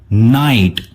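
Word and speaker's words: knight: आ रहा है वो इसमें साइलेंट है। ओके। क्योंकि इसका प्रोनाउंसिएशन होता है नाइट, न आइट, न आइट यानी नाइट। तो GH जो है वो साइलेंट है।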